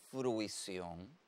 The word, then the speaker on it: fruición: nos trae el sustantivo fruición es un sustantivo que tiene tilde ortográfico es una palabra aguda terminada en N lleva tilde en la o y que cumple con